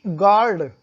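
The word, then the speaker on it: guard: आप, first is गार्ड, जी यू ए आर डी। अब यहाँ पे यू के बाद ए आया है तो यू साइलेंट हो गया, जो वॉवेल आया है ए उसका उच्चारण पढ़ा जाएगा, तो ये गार्ड हो गया।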